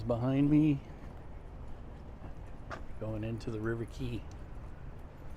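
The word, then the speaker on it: River Quay: me going into the river key it's pronounced River key not Quay come on dongs this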